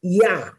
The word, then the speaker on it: Jah: how the name of yah is composed of the first two letters and it's also translated as J ah which is still pronounced yah and it appears often